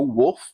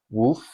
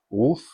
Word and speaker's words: wolf: a very round O wolf because that's how it's spelled but English isn't a language where spelling matters sometimes and apparently you pronounce it more with like a soft u sound wolf wolf there are two species